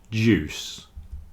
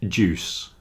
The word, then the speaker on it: juice: have a silent U but fruit juice and suit the I is not pronounced fruit juice and suit wonderful illustration